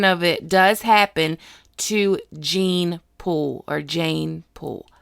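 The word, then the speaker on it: Jeyne Poole: it does happen to gene pool or Jane pool how do you say it Jane or gene let's say Jane pool je y & E Jane Jane Jane so Jane pool is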